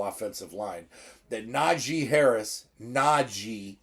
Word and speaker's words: Najee: line that Naji Harris Naji not Najee all right correct pronunciation folks the man's name is Naji Naji Harris has only